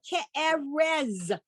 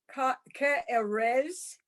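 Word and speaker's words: כארץ: Okay, except that last letter on that first word is like Z and Zoo. Okay. Ka'eretzu. No. Ke'erez. Oh, okay. Ke'erez.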